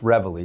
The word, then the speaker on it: Reveille: Whenever I introduce our firm, I say our name and I say but you know, I say it is pronounced Revelry, just so you know, cuz people get it wrong.